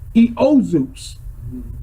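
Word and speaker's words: Ἰησοῦς: That's Greek. Eozus. That's how you say it in the Greek.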